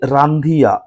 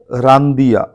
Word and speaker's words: রান্দিয়া: যাই হোক, next question হচ্ছে রান্ধিয়া, বানানটা অ্যাকচুয়ালি এইরকম নয়, এইরকম হওয়া উচিত, রান্দিয়া, ঠিক আছে?